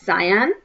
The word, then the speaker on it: cyan: I would like to introduce you to two new colors, cyan, pronounced as cyan, cyan, cyan, cyan, cyan, and magenta, magenta, magenta, magenta.